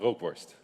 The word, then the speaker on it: rookworst: Hema rookworst. Hema, what is Hema that? rookworst. How do you pronounce it?